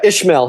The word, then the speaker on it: Ismael: But the main artist, am I pronouncing it right? Ismael Hernandez? Yeah, Ishmael Hernandez.